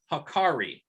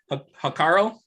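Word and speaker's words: hákarl: It's called hakari. Maybe I'm even pronouncing it incorrectly. It's H-A with a little line over it. K-A-R-R-L. Hakaro? Hakaro, yeah.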